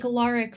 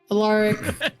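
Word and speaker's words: Alaric: a r i c like aaric from The Vampire Diaries thank you sure allic storm what storm weav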